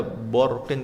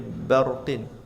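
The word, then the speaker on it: برق: w barhari wajil fajri dan hindarilah membaca tafhim pada huruf ba seperti k ada kata barqin jangan Jangan, jangan dibaca borqin, tapi barqin batilin bihim bidzi.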